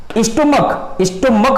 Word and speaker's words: stomach: स्टोमक बोलेंगे तो last में क्या उच्चारण आएगा? का आएगा।